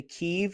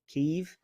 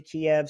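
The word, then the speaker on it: Kyiv: your capital's name correctly keeve i believe that the russians pronounce it kiev so let's not do that uh there's a woman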